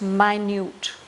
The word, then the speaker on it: minute: Here it's the same spelling as the word minute, but here it's pronounced minute, meaning very small.